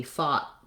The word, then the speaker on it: fought: and then fought this oh you says the ah vowel sound and i often rewrite that with the aw sound because that's how we spell it in words like saw and law so we fought the